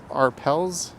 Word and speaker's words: Arpels: haven't had a drink in a while it's pronounced Arpels says Marge ARP let's call it arp that's